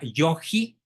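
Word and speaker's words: yogui: entonces la manera correcta es decir yoi con sin u es decir se pronuncia yoji sin la u intermedia entre la g y la i la tarea del yoi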